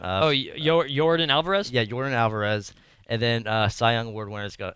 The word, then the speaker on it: Yordan Alvarez: Yeah, Yordan Alvarez.